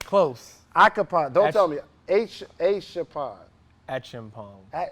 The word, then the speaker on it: Acheampong: Acheampong.